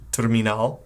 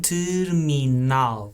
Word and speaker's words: terminal: you have the singular, which is terminal, exactly the same word, just different pronunciation. Terminal.